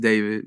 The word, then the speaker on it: D4VD: Hello, my name is David, pronounced David, not D4VD.